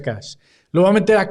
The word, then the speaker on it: cache: meter a cacheo a casa que en realidad se pronuncia Cash lo voy a meter